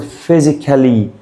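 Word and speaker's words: physically: اللي بعدها اسمها فيزيك البي اتش عنطها اف فهقول فيزيكالي عود نفسك يا صاحبي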